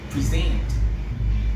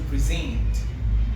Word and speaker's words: present: The same transcription, sometimes the same transcription, with the stress different. The stress is different stress placement. Yeah, the stress is placed in a different syllable, or it's stress on a different on a different syllable.